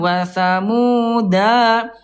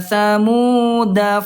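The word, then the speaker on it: وَثَمُودَ: Watsamud fama pendek. Jadi bukan wasamuda. Nah, enggak gitu ya. Oke, Bunda kita baca. Siap ya. Ini bacanya yang sudah baca ketika angka del ya. Wa tsamuda fama abqo.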